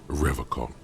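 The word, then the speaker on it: Revachol: rev hall he pronounces revacon with a hard k unlike other people i like to pronounce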